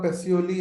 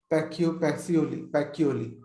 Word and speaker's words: Pacioli: लुका पैसियोली या लुका पैकियोली जैसे भी उनका प्रोनाउंसिएशन है.